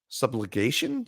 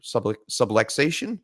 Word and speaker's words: subluxation: ryan fitzpatrick placed on ir uh hip sublection subligation sub like i can't say it right i'm not good with it that's right i remember hearing it now subligation subluxation subluxation subluxation um long story short his hip